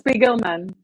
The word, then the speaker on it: Spiegelman: Is it Spiegelman or Spiegelman? It's Spiegelman. Spiegelman.